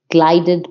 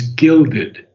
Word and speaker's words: gilded: So we have two mistakes in pronunciation. The first one is blithe, Blithe, blithe. Blithe. Okay. Blithe is joyous or merry. Okay. And the second word is gilded.